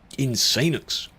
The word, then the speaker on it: Insanux: Insanux. That's how I pronounce it. Insanux.